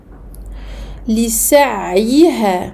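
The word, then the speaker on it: لسعيها: Donc attention à bien prononcer chaque syllabe. Ici, Aïn Sukun, écoulement partiel du son. On prononce bien le Ya Kasra et on prolonge ici de deux temps.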